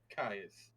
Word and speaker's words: Caius: Kaiser, Caius, and they come from the word Gaius, so technically the correct pronunciation is Caius, but Caius.